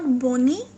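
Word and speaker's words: bone: कहते हैं स्कीम खाल बोन बोन इट्स नॉट बनी इट्स बोन बोन मतलब हड्डी टीथ टीथ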